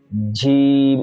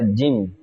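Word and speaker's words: جيم: জি অনেকেই জিম উচ্চারণের সময় ঝি ঝিম এরকম করে আওয়াজ করে মানে তার আওয়াজের সঙ্গে বাতাসের আওয়াজ একটা আসে অথচ জিমের মধ্যে বাতাস চালু নেই অন্য হরফের মধ্যে বাতাস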